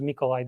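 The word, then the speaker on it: Mikołaj: as the nikolai's copernicus because mikolai that's the polish pronunciation for it but nothing to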